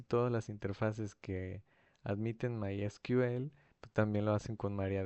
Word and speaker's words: MySQL: Lo que es María DB y My Sequel, perdón, es que antes era, antes se ponía así, Sequel y se me quedó la pronunciación, pero es My SQL o mi my SQL.